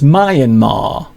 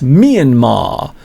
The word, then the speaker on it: Myanmar: I once got into trouble for pronouncing Myanmar as Myanmar. I got a lot of people saying, "Mr. you've got it wrong. It's not Myanmar, it's Myanmar." So hello to Kin Win